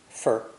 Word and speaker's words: for: The unstressed words are there's, much, left, and for. FOR, for, is usually lightly pronounced. Fur.